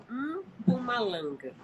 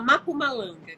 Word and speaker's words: Mpumalanga: É, Assim, o jeito correto de falar é Mpumalanga. É um M mudo, porque Pumalanga. é como se fala mesmo lá né, no dialeto Xhosa, que é da África do Sul.